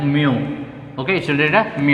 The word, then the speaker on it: mu: How to pronounce it? So you should read it like this one. You should read it as mu.